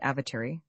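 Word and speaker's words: Awatere: The Blenheim coach was descending into the valley of the Avatar river pronounced avatar from the saddle of Taylor's pass.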